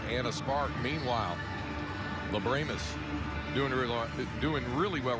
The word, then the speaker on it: Brahmas: a few others, Belleville, all pronounce it with the long A, Brahmas. So I guess it depends on where you're living. Tomato, tomato, Brahma, Brahma. But it's the Brahmas if